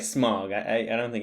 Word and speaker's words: Smaug: How do you say it? Smog or Smaug? It's like smog.